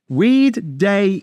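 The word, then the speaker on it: Oueddei: weed weed day e I'm going to say his name m we because it begins with l it's a bit confusing but it's OU so it's French it begins with a W in English so Weed Day e took over he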